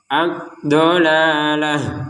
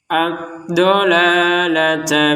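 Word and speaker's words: الضَّلَالَة: Kalau kita berhenti memang diwaqaf atau berhenti menjadi huruf ha. Addolalah huruf ha. Kalau disambung kembali menjadi huruf ta. Addolata bil huda seperti itu.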